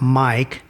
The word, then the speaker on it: M1KE: They say you can pronounce that mic as the name of the device, but I'm going to call it M1 K during this podcast so that it's clear that that's what I'm talking about.